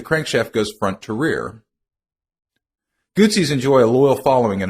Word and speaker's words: Guzzi: Grand Prix racing today Gucci pronounce it like pizza is best known for